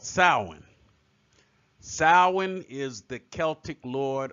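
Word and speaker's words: Samhain: a day called sowing I used to pronounce this word Sam hame but I just found out that uh the correct uh pronunciation of the word is sowing it is an extraordinarily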